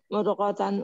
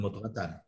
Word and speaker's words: مضغة: Mudghata idham. Jangan mudghatan.